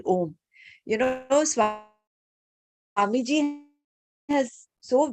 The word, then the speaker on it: Om: When you open your mouth, ah comes out, and when you purse your lips, it is oo, and when you close your mouth, it is m.